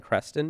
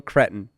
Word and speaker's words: Cretton: Daniel something Creston maybe? Daniel Daniel Crest. He also uh directed Wonderman which I loved. He directed Yeah. Oh sorry, Destin Daniel Cretton.